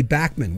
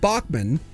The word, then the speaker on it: Bachman: I mean, a few weeks ago we were talking about Randy Bachman, where it's not Bachman, it's actually Randy Bachman, but he doesn't mind when people say it wrong.